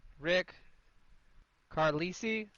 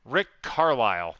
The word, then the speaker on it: Rick Carlisle: Rick Carlisi? Carlisi? How do I say his name, Connor? Rick Carlisle.